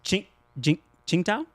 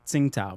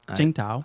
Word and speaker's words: Qingdao: It's Qingdao. Qingdao? Qingdao. You'd like to pronounce it Tsingtao, but it's Qingdao.